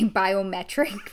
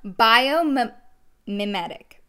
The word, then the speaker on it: biomimetic: let me remember biomimetic i keep wanting to say biometric which is obviously not true so bio mimetic okay biomimetic peptide okay there we go said it right this helps to support